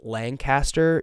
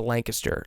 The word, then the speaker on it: Lancaster: By the way, if you're not from Lancaster, PA, and you ever pronounce it Lancaster, you will be crucified. It's a Lancaster.